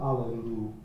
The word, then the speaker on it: alleluia: sure is real CL make sure that you're sing not hallelu or Allelujah but allelu you know it it it ends the last syllable is the same as the beginning syllable aelu it's not Hallelujah Hallelujah